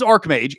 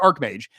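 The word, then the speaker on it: archmage: that's that's the idea it is arch mage it is pronounced arch mage the fact that he the fact that Travis keeps saying arch mage really really really saddens me because now I should have to say arch arch mage because I have said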